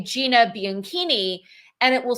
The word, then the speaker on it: Bianchini: It is Bianchini. Bianchini. So the CH is a K sound because it's Italian.